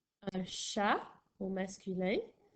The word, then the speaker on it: chat: Un chat au masculin s'écrit C-H-A-T, le T à la fin qui est muet.